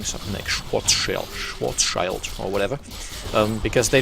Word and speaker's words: Schwarzschild: how the german pronunciation is the quite correct pronunciation would be schwarzschild but that sounds weird putting it in an